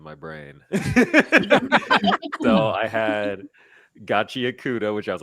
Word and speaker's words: Gachiakuta: I originally thought it was Gachiakuta, Akuta, but then I realized it's Gachiakuta.